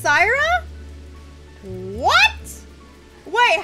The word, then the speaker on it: Saira: you didn't know that my name was pronounced Sarah what what wait how